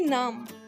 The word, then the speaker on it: नाम: And the second word is naam. There are no much difference in between both, but a little difference is that you say in English name and we say in Hindi naam.